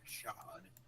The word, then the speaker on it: Chad: you get flashes of the planet chod which is spelled Chad it is it is